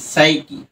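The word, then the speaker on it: psyche: এটাকে যদি আমরা ভাঙি দেখো কিভাবে আসে, PSY সাই CHE, সাইকি, রাইট?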